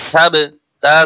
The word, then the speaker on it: السبت: বা জবর সাব, আসহাবাস সাব, তা জের তি, আসহাবাস সাবতি। ওয়াকফ করলে হরকত উচ্চারণ হবে না। কিরকম উচ্চারণটা হবে একটু খেয়াল করুন, আসহাবাস সাবত, সাবত।